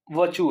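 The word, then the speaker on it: virtue: हुआ है, ठीक है, किसमें किसी में क्या वर्चू है, इसको वर्चू बोलते हैं, है ना। अगर आप आर साइलेंट करते हो, नहीं तो वर्चू भी बोल लो चल जाएगा, ठीक है।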